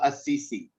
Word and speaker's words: Assisi: The letter C. Assisi. Assisi. No S at the end. Assisi. Assisi. Saint Francis of Assisi. Saint Francis of Assisi.